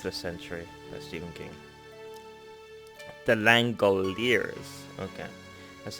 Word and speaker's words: The Langoliers: The Langoliers. Okay. That's how you pronounce This is it.